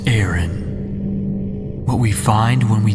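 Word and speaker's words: Aran: we are now officially samus aaron or a rand like how i used to pronounce it but it's aaron what we find when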